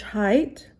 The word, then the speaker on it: height: Number 5, average height, A-V-E-R-A-G-E. And then height, H-E-I-G-H-T. So you see here, the GH is silent. You really cannot hear it.